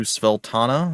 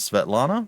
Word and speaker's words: Svetlana: They might have had some very questionable pronunciations of names. Looking at you, Sveltana, instead of Svetlana, but I digress.